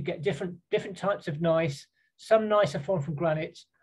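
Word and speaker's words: gneiss: would say this is nice that's how you pronounce that word in the top left it's got a silent g basically that's a nice piece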